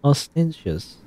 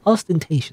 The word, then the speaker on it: ostentatious: there Faithfully feeling as ostentious us or ostentatious ostentatious I remember I remember how to pronounce that ostentatious is a maypole